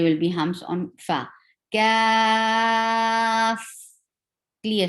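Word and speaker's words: كاف: Kaf is a soft letter, and there are three letters involved to pronounce the name of this kaf, this letter. So the first letter is kaf, second letter is alif, and third letter is fa.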